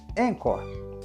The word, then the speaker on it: Anchor: aqui Vale lembrar que encor se escreve a n c h o r encor o jeito mais fácil